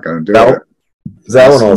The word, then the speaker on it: Zawinul: But how do you pronounce the guy's name? Zawinul.